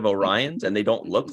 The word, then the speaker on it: Orion: of our Orion remember they pronounced them like oreons in that episode instead of orions and they don't look